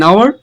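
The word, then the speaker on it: hour: অ্যান আওয়ার, এখানে এইচটা উচ্চারণ হচ্ছে না সেজন্য এন বসছে।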